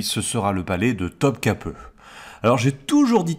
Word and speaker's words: Topkapı: sera le palais de Topkapı. Alors j'ai toujours dit Topkapi, mais j'apprends sur place qu'en fait ce i là sans point, eh bien en turc ça se prononce e.